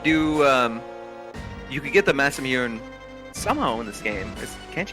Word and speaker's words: Masamune: As we know now, it's pronounced the Masamune. Did you? What? That's how you say it in Japanese. Masamune?